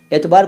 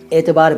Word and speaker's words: اعتبار: देखिए, जनरली तो इसको एतबार बोलते हैं, एतबार बोलते थे, कई लोग एतबार बोलते हैं। असल में यह है एतबार, एतबार अरबी का शब्द है एतबार।